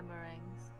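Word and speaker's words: meringue: how do you say that word marins yeah mering mering for Miranda why don't want to do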